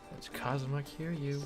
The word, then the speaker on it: Kazuma Kiryu: That's Kazuma Kiryu. Rhymes with Kazuma Kill You.